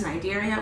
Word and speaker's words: Cnidaria: That's Cnidaria with a silent C. C stands for silent, okay?